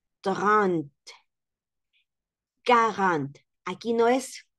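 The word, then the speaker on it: quarante: Okay this V trant carant aquí no es cua escuchen no es cua sino que la Q en francés suena a k carant en la otra Sant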